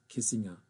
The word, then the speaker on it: Kissinger: It was not Americanized. So it is Kissinger in German.